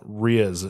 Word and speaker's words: rizz: It's pronounced Riz, just like it's spelled.